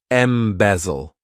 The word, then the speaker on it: embezzle: one embezzle to embezzle this verb has three syllables and the stress is on that second syllable M bezel what it means is